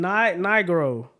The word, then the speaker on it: Nigro: we have producer of the year non-classical um Daniel negro n Daniel ain't no way that's how you say his name I'mma say I'm not even going to try Daniel n Nigro okay okay uh D Milly no d m